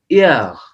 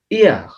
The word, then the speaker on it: hier: How you will say hier, hier. H, you will not pronounce the H here. No, hier, hier, yesterday.